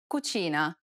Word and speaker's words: cucina: This sound is identical to the ch in church. The only difference, though, is that it's stressed even more in Italian than it is in English. Listen to the example.